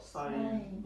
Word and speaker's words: sin: 읽을 때는 뭐라고 읽을까요? 사인. C는 죄가 아닙니다. 사인입니다.